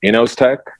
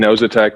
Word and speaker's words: Inozetek: company yeah so i pronounce it and we pronounce it innos tech you know it knows attack is it's fine as well so i i